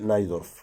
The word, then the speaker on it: Najdorf: English speakers say Najdorf. Is this the way to pronounce Najdorf in Spanish?